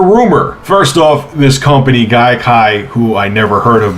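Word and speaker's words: Gaikai: I said it right his guy K sounds like conjunctivitis or some kind of infection you would catch whatever anyway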